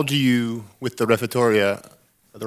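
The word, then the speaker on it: Refettorio: How do you, with the refettoria, the right word? Yes, perfect. You're the first one who pronounced it for the first time.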